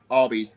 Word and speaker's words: Albies: Yeah, Albies. I is silent.